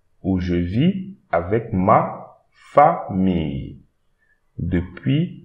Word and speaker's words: famille: And here again we have the ILLE. So here we read fa famille, famille, famille.